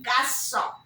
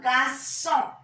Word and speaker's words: garçon: And GARC Sedilon garçon. GARC Sedilon. ON is nasal vowel. Garçon.